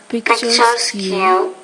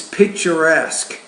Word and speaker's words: picturesque: Canadian chronological Abend Vietnamese pictur Technique No it's it's picturesque so she's probably never seen that kind of word before she has no idea how pronounce that educ educate education motivate